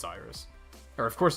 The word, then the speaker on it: Iris: If it was based on the Greek word rainbow and the goddess that brought rainbows and linked the gods to humanity, that it's pronounced fucking Iris. It has to be. Like, it has to be Iris.